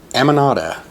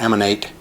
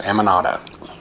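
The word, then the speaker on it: Amonate: in my life and that is amanda believe it or not it's not emanate or ammonate or anything like this ammonata and that was by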